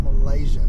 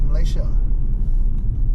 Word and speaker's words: Malaysia: I've got to stop saying Malaysia. It's not Malaysia. It's Malaysia. I sound like white boys, man. Pronouncing my own country. That's silly. It's Malaysia, not Malaysia. There's no Z.